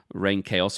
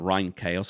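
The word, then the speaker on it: Reinkaos: I think he did kill someone, served time, came out, he released the Dissection's 3rd album, Rain Chaos or Rhine Chaos, I've heard it pronounced 2 different ways, and then it kind of got critically shat on, and then he killed himself.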